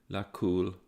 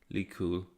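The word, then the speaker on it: لكل: Verse 1 should be read without final vowels, thus Wail lakul, not likul, hamaza lamaza.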